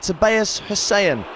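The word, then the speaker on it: Tobias Hysén: they certainly showed resilience in sweden they pronounced it tobias hussain although his first goal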